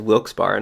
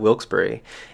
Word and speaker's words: Wilkes-Barre: this town all along so i've been pronouncing wilkes bar in my chorus as wilkes bar not wilkesboro and i thought like